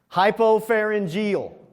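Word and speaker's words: hypopharyngeal: Uh oh, there's our third scientific word and it's like six syllables. All right, you ready? Hypopareneal.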